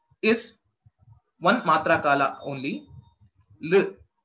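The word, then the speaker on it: ऌ: The pronunciation of this is very simple. You don't have to stress anywhere in your mouth. Don't press your tongue against any of the organ or part of your mouth. L.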